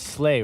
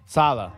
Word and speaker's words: Saleh: It's Slay, right? The defensive coordinator from the San Francisco 49ers. Saleh, that's what it is.